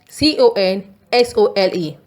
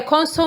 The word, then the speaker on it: console: C-O-N-S-O-L-E. With the stress being on C-O-N, it is console. I spend too much time at my computer console. Here, console means screen and controls.